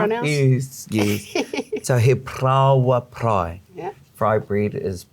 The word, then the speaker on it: parāoa: Fried bread is prawa, bread, Prawa. and prai is to fry. So he prawa prai. He Try that prawa one. It's got a lot of pr in it. Roll your R's.